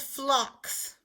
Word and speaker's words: phlox: they're really quite pretty called phlox that kind of flower is a flock spelled with this pH L digraph blend so write the word